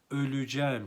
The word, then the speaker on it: öleceğim: doğdum senin altında öleceğim bakınız burada e harfi daralma kuralıyla üye dönüşüyor öleceğim şeklinde telaffuz ederiz yine ğ de var